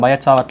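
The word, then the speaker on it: Biot–Savart: இது வந்து பீப்புள் வந்து நிறையா மாதிரி ப்ரொனவுன்ஸ் பண்ணுவாங்க. ஓகே, நான் பயட்-சாவர்ட் லா அப்படின்னு சொல்கிறேன்.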